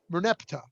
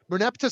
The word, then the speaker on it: Merneptah: Is that how you pronounce it? Merneptah. Merneptah stele, which contains a text about an Egyptian pharaoh dating from the 13th century BCE.